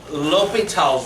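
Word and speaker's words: L'Hôpital's: it is no Pete up even though you spell it the hospital okay alright so l'hopital's rule is something that we're going to use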